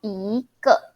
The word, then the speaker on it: 一个: When your character after the E is fourth tone or neutral tone, you need to pronounce E as a second tone. E, so 一个.